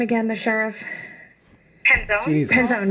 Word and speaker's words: Penzone: And how do you pronounce his name again? The sheriff. Penzone.